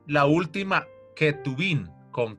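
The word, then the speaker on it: כתובים: Entonces, algunos han atrevido a decir que es Ketubín, pero es muy forzado porque la verdad la J se pronuncia como K de kilo. Entonces sería Ketubín es lo correcto y también lo escriben Ketubín.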